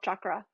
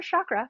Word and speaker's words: chakra: A lot of that sacral chakra work. And yes, I say chakra because I studied Hinduism in my master's program, and that's how you say it. Come to find out, not chakra, but chakra.